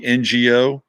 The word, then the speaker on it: Ngo: say his last name no andy no andy ngo uh apparently he's got a book on antifa